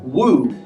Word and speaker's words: Wu: Another very common name is Wu. W-U. Yeah. So it looks like Wu, but I don't think you should say it as Wu. So yeah. Wu. Wu, it's like W-O-O, the very...